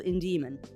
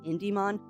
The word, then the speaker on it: Indemon: and looked at it it sounded like I was saying in Demon but it's in Demon I'm putting the emphasis on the wrong salable so I have uh tried very hard to make sure that I am putting the emphasis on the correct salable now so instead of it being IND demon it is in Demon how's I'm being weird